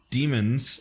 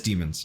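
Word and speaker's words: Demens: Built by Peter Demons in 1889, Peter Demons, pronounced Demons. Oh, it is Demons.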